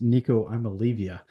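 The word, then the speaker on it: Nico Iamaleava: To start off, I believe it's pronounced Nico I'm Olivia.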